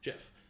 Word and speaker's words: Schiff: The door is opened, and how do you pronounce the last name? Schiff or Skiff? Schiff. Schiff.